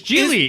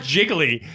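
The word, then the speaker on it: Gigli: It's Geely. Is It's it? not Jiggly.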